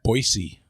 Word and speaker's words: Boise: By the Jane, way, in Idaho, they pronounce it Boise. Oh. Boise with a hard S. Oh, okay. That's good to know. Not a Z. Soft S.